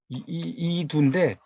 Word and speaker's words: 이두: 이두인데 이 두라고 하는 것 자체 이거는 독인데 이렇게 여러분 생각하시면 안 됩니다. 이게 읽을 독, 읽을 할 땐 독으로 읽어요. 그런데 이게 또 하나는 구절 이런 것을 의미할 때는 두라고 읽어요. 이 의미. 그래서 이두에 이두 이걸 독이라고 읽으면 큰일 납니다. 이때는 두예요. 그래서 이제 중인들이 어떤 글을